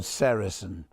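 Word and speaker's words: sericin: It's called sarasin. You spell that s e r i c i n.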